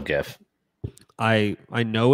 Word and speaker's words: GIF: hear spoken ever um i don't even care that it's actually jif it's still gif i i know it's